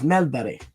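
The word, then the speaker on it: Mellberg: So, no English commentator has ever made an effort or or Olaf Melberg is Olaf Melbury. So, you know, no one bothers to learn how to pronounce things and and he he took the time and he did that.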